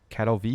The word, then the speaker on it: Katowice: There was treat the W as a V. Okay, so Katowice.